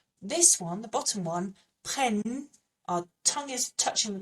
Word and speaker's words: prennent: So it sounds like this: ils prennent, ils prennent. And yes, there is an ENT on the end, but the ENT on the end of a verb is silent.